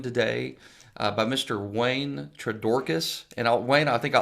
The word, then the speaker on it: Twordokus: i am joined today uh by mr wayne tradorcas and wayne i think i always butcher your